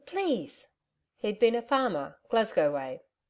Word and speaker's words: Glasgow: he'd been a farmer Glasgow way mcki still pronounced it glasa and my mother was